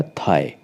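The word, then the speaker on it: thigh: अर्थ होता है ऊंचा ऐसे आपका थाई टी एच आई को प्रोनाउंस करेंगे जी एच हमारा साइलेंट रहेगा तो बन जाएगा थाई थाई होता है जांग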